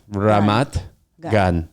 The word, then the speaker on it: Ramat Gan: how do you say it like Ramat Ramat Gan G gun gun yeah yeah okay so